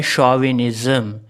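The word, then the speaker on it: chauvinism: इसी तरह एक और वर्ड है शॉविनिज़्म। शॉविनिज़्म में भी हम सी एच को शाह पढ़ते हैं, ना तो हम इसमें चा पढ़ते ना का पढ़ते।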